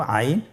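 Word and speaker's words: عين: আইন হরফটি উচ্চারণের সময় অবশ্যই 3 আলিফ টেনে পড়তে হবে এবং আইন হরফটি বারিক হরফ, পাতলা করে পড়তে হবে। আপনারা আমার সাথে বলুন আইন। আবার বলুন আইন। আইন হরফটি কণ্ঠনালীর মধ্যখান থেকে উচ্চারিত হয়।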